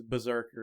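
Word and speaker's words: BRZRKR: But the name of the comic is Berserker, and it's spelled B-R-Z-R-K-R, all caps, and it's made by Boom Studios.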